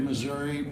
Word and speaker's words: Missouri: of us who came from the state of Missouri pronounce it that way. My brother, who lives in the state of Missouri, pronounces it Missouri, as did Harry Truman, so go figure.